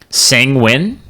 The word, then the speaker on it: sanguine: sam sanguin it's it rhymes with penguin sanguine sanguine sanguine deps it sounds weird i'm gonna say sangwine it